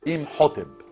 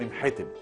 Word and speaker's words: إمحتب: لكن لما تقول إمحتب وهو الاسم الأصلي والنطق الصحيح لاسم هذا الرجل الجهبذ، يبقى انت برضه بتديله معنى تاني.